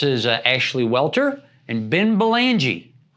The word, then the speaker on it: Belangee: This is Ashley Welter and Ben Belangee, right? Yes. Did I pronounce that right?